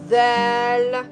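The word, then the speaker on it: ذال: Nhưng nếu bạn thêm một dấu chấm lên trên chữ Dal, bạn phát âm là Dhal, Dha Dhu Dhi.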